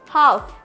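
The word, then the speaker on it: half: क्या पढ़ेंगे would next हाफ तो एल क्या है यहां पे भी हाफ में एल साइलेंट आया है तो क्या हो जाएगा हाफ अब अगर हमें पता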